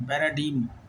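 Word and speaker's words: paradigm: डी आई जी एम पैराम डी G silent है पैराम पढ़ेंगे इसको पी ए आर ए डी आई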